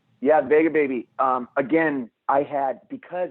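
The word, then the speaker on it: Vega Baja: you end up is that uh is it pronounced vega baby yeah vega baby um again i had because i had been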